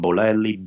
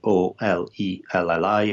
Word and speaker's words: Bolelli: So my name is spelled like Daniel with an E at the end, Daniele. So Daniele. My last name Bolelli, Bolelli. Again, Bolelli.